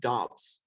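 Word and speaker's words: Romeo Doubs: romeo also i believe his last name is pronounced dobbs just saying okay i used to say dubs too but i i saw some a video i think it was a packers guy saying dobs that's so i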